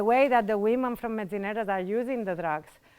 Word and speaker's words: Metzineres: Yeah, let's begin first for our name that is really difficult to pronounce here. It's Metzineres.